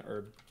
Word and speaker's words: herb: I recently found out that Europeans pronounce the H in herb.